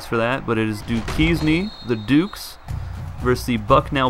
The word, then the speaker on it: Duquesne: the next game is Duke keys need I pronounce the Duquesne in the last video I do apologize for that but it is duties me the Dukes mercy buck now bison in the